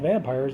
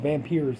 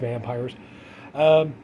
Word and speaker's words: Vampyres: It, yeah, it's pronounced Vampyres. I was kind of stunned. I thought it was pronounced Vampyres because of the Y. But anyway, yeah, it's just Vampyres.